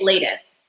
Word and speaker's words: Latus: I know that he's very particular about the pronunciation, but am I saying Latus?